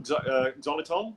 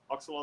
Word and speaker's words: xylitol: Xylitol, is it? Oxalol?